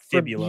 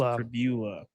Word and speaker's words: Pribula: Because fibula is a word, and that makes me want. I wanted to say it, but that's not how it's pronounced. It's okay. It's not fibula. It's Pribula.